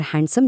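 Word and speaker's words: handsome: और दिलचस्प बात यह है कि वेडनेसडे और हैंडसम जैसे रोजमर्रा के अल्फाज़ में भी डी नहीं बोला जाता।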